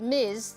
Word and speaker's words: Ms: of the form of a dress pronounced Miz that is used by